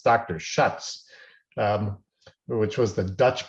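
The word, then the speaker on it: Schiøtz: You don't see it much anymore or at all, but it's often pronounced Shiatz, but I'm told by someone who spoke to the individual who developed this, it's Dr. Schutz, which was the Dutch pronunciation.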